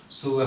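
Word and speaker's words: sure: आई वॉज सुअर, वैसे इसको मैक्सिमम लोग श्योर पढ़ते हैं, लेकिन फोनेटिक इंग्लिश के अकॉर्डिंग ये सुअर वर्ड है, मतलब इसका प्रोनाउंसिएशन सुअर होता है, और वैसे हिंदी में क्या होता है, विश्वस्त।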